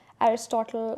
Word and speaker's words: Aristotle: Like Aristotle says, the whole is greater than the sum of its parts. Okay, I don't know if I pronounced his name right. Aristotle, actually, that's the way you pronounce it.